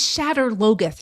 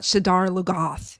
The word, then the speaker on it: Shadar Logoth: It's Shatter Logoth, not Shadar Logoth. It's Shatter Logoth. Say it right.